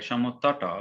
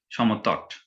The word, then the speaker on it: Samatata: As it is Samatata, though in English we pronounce the pronunciation is like Samatata, but actually in Bangla we call them Samatata, and it is near Mainamati of Kumilla.